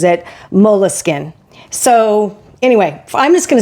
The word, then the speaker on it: Moleskine: I always called it Moleskine, not counting the E.